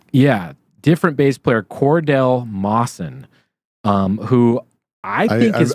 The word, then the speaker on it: Mosson: Who I think I believe he pronounces it Mosson because okay. when they were being inducted into the Rock and Roll Hall of Fame, he introduces himself, and when he says his own name, he's like, "My name is Cordell Mosson."